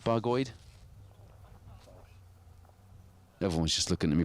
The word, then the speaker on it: Bargoed: nowhere exotic just cloudy bargoed is how you spell how you pronounce that bargoid everyone's just looking at